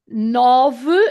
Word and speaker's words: nove: so that's why it doesn't seem to be pronounced, but it is sete, sete. Then oito, nove, again the sound nove, dash.